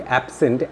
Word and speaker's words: absent: So in the case of verb, if you have two syllabic words, then the stress will always fall on the second syllable. Now notice carefully, in the word absent, see clear carefully, absent, absent, it is the second syllable that is stressed. That means the S is stressed.